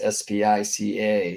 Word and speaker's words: Spica: And many sidereal zodiacs are configured to this star, which is Spica. It's spelled like this, S-P-I-C-A.